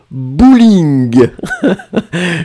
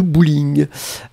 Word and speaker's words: bowling: Alors les Français écrivent comme en anglais, mais ils prononcent bowling.